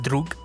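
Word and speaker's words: друг: apier thing is actually it's a Russian word and it's actually pronounced drug oh really yeah and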